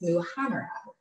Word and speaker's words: muhammara: This is for the first step of the, I always feel like I'm gonna mispronounce this, the muhammara. I practiced that for you guys, muhammara.